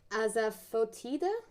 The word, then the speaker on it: asafoetida: It's pronounced asafoetida.